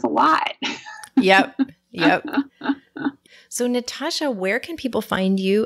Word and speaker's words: Natashia: It's just an I. It's a silent I that's in my name for your listeners to know what I mean by funny spelling. Yeah, like as if her name were pronounced Natashia.